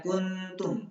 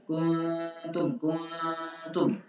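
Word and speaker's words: كنتم: Maka bacanya kuntum min tahtiha. Zar'an ta. Jangan bacanya kuntum. Ini enggak benar karena apa? Ada engnya, dia menciptakan sendiri kuntum. Nah, harus langsung masuk huruf ta.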